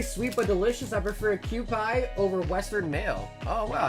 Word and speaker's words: Kewpie: It's pronounced Kewpie.